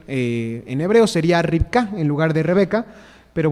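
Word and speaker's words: רבקה: al idioma Castellano pero en hebreo realmente la pronunciación más correcta es ripka y significa justamente lazo pero viene justamente de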